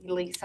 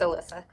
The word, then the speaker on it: Alyssa: But it's not phonetically spelled anyway. You would probably like be Lisa or something, but it's Alyssa.